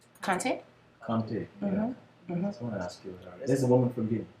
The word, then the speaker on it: Kante: What do you pronounce her last name? Kante?